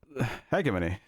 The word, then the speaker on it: hegemony: it be known that I did not mispronounce the title of the episode thank you very much hegemony I said it correct as far as as far as the British Oxford dictionary is concerned I said it correctly um and